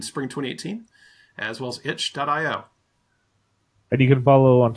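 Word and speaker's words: itch.io: 2018 as well as hitch dot IO and you can follow on Twitter to see all the how the process is going wait right did you say it like like something's itchy yeah like some cinchy there's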